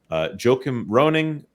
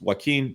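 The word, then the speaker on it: Joachim Rønning: Joachim Roning. I don't think it's Joaquin, but it could be close to Joaquin. That would be the more Latin American pronunciation of this Nordic sounding name.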